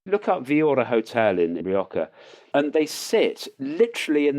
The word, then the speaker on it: Rioja: And they sit, look up Villora Hotel in Rioja, and they sit literally in the lap of the Church of San Juan, which is next door to it.